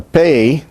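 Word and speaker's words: פּ: Now, the pe with a doggish is pronounced like the P of English, the P of pop. It is bilabial, stop, and voiceless also.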